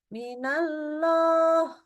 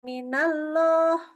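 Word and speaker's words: من الله: minallah kita baca minallah nah ini tipis ya bukan minallah bukan itu cuman ngeoin doang enggak boleh ya yang dinaikkan eh yang dikerjakan itu adalah menaikkan pangkal lidah bukan bacanya tetap tipis pangkal lidahnya tetap turun tapi supaya kedengaran seperti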